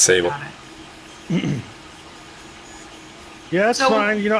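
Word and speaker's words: Sabyl: find a way to get Sable in Sable or civil s along with multiple personalities I might it's spelled s-a-b-y-l so I'm just going to save it yeah it's Sable yeah that's fine you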